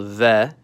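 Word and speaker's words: В: It's called V. And like Spanish, it makes a V sound. VV. Depending on the word position, language, and dialect, the pronunciation can vary slightly, but it's still going to all be centered around the VV.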